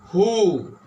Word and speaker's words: who: But one question rises that W here and here H, but W is not pronounced. What is pronounced? H pronounced. Who? H pronounces.